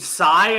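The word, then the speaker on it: Tsai: like somebody's a guy named Psy I think his name is that's how it's pronounced t-s-a-i plans meeting with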